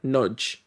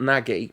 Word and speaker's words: Nagy: But I have it on good authority that it's like Nudge. That's how you're supposed to pronounce it. Nagy. Yeah, it's not Nagy, but he's good, apparently.